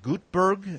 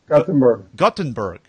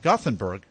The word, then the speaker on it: Gothenburg: So it was TEDx Gutenberg. Am I saying that correctly? Gothenburg. Yeah, TEDx Göteborg is the Swedish pronunciation, is the city. Gothenburg is the city. Gothenburg.